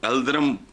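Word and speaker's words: Yıldırım: तो उसने तैमूर ने यलद्रम को एलद्रम प्रोनाउंस करते हैं मैं लोकल मैं उसमें कर रहा हूं कैद करके के उसके हरम पे भी कब्जा कर लिया था।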